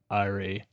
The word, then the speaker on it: eyrie: Let's see what this one has to say. Well. Or this one. Why are they so long? Eyrie. See? Boom. Eyrie. Sounds like a computer saying it. Eyrie.